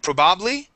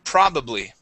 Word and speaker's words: probably: to the word probably instead of probably it is probably probably okay one more time stress at the beginning probably probably good okay